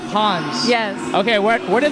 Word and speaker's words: Hanz: Hans okay let's get that straight first it's pronounced Hans yes okay where where did the name come